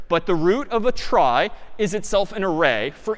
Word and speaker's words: trie: a try so a try sort of a weird name in pronunciation short for retrieval pronounced try typically a try is